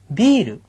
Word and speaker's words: ビール: 맥주 어떻게 발음해야 돼요? ビール. 비르라고 발음하시고요. 위스키는 어떻게 발음해 줄까요?